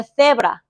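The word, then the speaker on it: cebra: 근데 이제 스페인 사람들은 어떻게 읽냐면요. 세브라. 세브라 세브라 좀 어려운데 그 친구들은 그렇게 이야기해요. 그래서 그 다른 나라 친구들이 스페인 애들은 맨날 세세 하다가 끝나잖아라고 놀려요. 그니까 좀 특이한 발음이기 때문에 근데 이게 불편하시면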